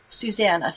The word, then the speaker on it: Susanna: pronouncing your name correctly Susanna yes just just like the song when when I was